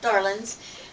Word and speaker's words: Darlings: The Darlings, usually pronounced Darlins, lived in a mountain shack somewhere in the mountains neighboring Mayberry.